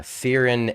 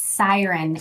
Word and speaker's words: Siren: I if I uh butcher the name uh sirin AI. It's Yeah, you're good. It's it's very close. It's Siren AI.